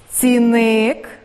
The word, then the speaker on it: цінник: Цінник. Запам'ятайте, цінник на другому складі наголос, течія на третьому, русло на другому.